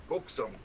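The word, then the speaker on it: 곡성: Would you pronounce it Goksung? Goksung.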